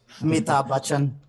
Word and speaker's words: Amitabh Bachchan: Pass to Yogesh for the pronunciation. Amitabh Bachchan.